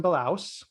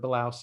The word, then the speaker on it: Bilous: Darren, it is Jason Bilous. And I also learned that that's a Ukrainian word, Bilous is, for white mustache.